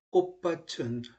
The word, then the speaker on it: 꽃밭: 가령 꽃밭은 교체 한 가지만 나타나지만 꽃밭 그럴게요. 치읓이 끝소리에서 뭘로 발음됐다? 디귿으로 됐지요. 됐죠? 그 다음 비읍이 뭘로 발음돼? 쌍비읍, 된소리로 되잖아요.